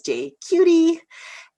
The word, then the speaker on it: JQT: and executive director of jqt vancouver which is pronounced as j cutie and um it's a